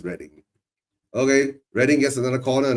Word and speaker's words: Reading: Well, I can say Reading too, right? Spelled that way. So, but of course, it's pronounced as Reading.